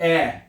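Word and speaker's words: Ä: लेकिन अगर ए के ऊपर दो नुक्त आ जाए तो ये बन जाएगा ओ आ उमलाउट। तो इसको पढ़ना है ऐ। क्या पढ़ना है इसको? ऐ। जैसे कि एफ एक लफज़ मैं आपको एग्जांपल देता हूं।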